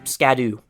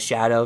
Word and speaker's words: Scadu: following this path here you may notice how I pronounce scadu well I learned from another video that you're supposed to pronounce it as Shadow so I'm going to go ahead and roll with that because that just makes so much more sense so no it's not